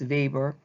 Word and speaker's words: Weber: German this time and it is pronounced like a V Max Weber he also taught at